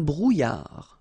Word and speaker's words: brouillard: Un éclair, une brume, un brouillard. Final D not pronounced.